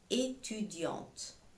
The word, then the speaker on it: étudiante: Une étudiante. Une étudiante. Je dis une. Je m'arrête jusqu'au N. Étudiante. Je m'arrête jusqu'au T. Je lis jusqu'au T, je m'arrête au T.